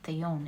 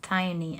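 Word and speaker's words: Thyone: Sorry, it's not theon, it's thione. It's pronounced thione, and which translates to inspired frenzy.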